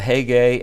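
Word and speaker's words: Hegai: Uh when we pronounce these names, usually we don't pronounce them right. For instance, uh heay h e g a i. In in their language, the e is an a sound, the a is an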